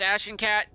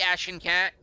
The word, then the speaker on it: Ashencat: cat when you said when you pronounce Ashen cat think action core or Ashen core like the Battle of agincore action cat or could be Ashen cat there's really no difference into the belly of